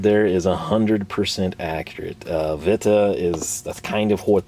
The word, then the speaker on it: Witte: To make these drivers, we've partnered with Witty, pronounced Vita.